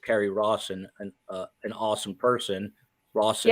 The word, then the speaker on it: Rawson: Rawson, yeah, awesome. It rhymes.